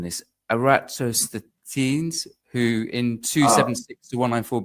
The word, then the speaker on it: Eratosthenes: I may be mispronouncing this. Eratosthenes, who in 276 to 194 BC carried out. Eratosthenes.